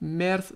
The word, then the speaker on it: Merz: Đối với người Đức, điều đó có lẽ nghe giống như tháng Ba. Merz sẽ đúng chứ không phải March.